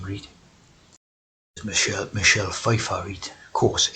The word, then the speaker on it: Pfeiffer: p read michelle michelle pfeiffer eat of course f f is a triple six right but here you didn't pronounce this p sweetie yeah let's see just